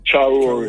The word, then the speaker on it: Traoré: Can you please pronounce his last name, Muta, the South African president? Traoré name. Yeah, Ibrahim Traoré.